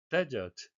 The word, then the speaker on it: desert: Desert. 영국식 발음은 데저트 짧게 되고요. 미국식은 R을 살려서 발음을 해야 되겠습니다.